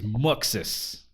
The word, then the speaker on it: Muxus: gotta go with and you gotta say it like this this is muxus moxis you can tell his